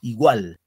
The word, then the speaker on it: igual: Igual. En al. En la sílaba gual.